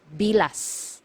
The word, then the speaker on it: bilas: one sister-in-law sister-in-law is bilas bilas so you have to be very careful with this one MGA hiala you have to pronounce the letter S at the end because if you mispronounce